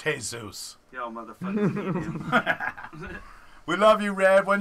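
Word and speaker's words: Jesús: a hole in it first off it's pronounced hey Zeus we love you read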